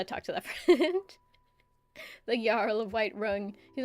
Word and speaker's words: Jarl: Uh Yarl spelled Jarl pronounced Yarl.